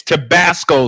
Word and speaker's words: Tabasco: I mispronounced it. It's Tabasco sauce.